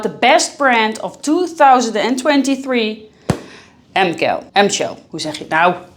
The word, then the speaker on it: Hemcael: We are going to talk about the best brand of 2023, Hemcael. Hoe zeg je het nou? Give you the correct pronunciation of the brand, which is Hemcael. I repeat it. Hemcael.